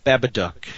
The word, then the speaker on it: Babadook: by copy of uh what how do you pronounce it bad a book the babadook babadook yes I've heard really good things about that